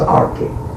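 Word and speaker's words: Arques: His father was William, Count of Arqueus, pronounced Archie.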